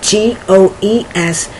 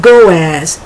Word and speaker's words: goes: know how it's spelled g o e s but it's not pronounced goaz it's pronounced goes and that s has sort of like a z sound to it okay so it's I